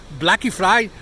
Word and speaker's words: Black Friday: But here, of course, it's pronounced Blacky Friday. No, how would it be? Blacky Friday. Blacky. They use English words, but they pronounce it in the Portuguese way.